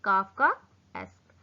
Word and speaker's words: Kafkaesque: Pronounce this काफका एस्क।